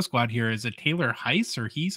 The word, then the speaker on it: Heise: Is it Taylor Heiss or Hees? How do you say your name? It's Heiss.